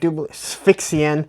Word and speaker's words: Sphexxian: Sphexxian, I believe is how you say it.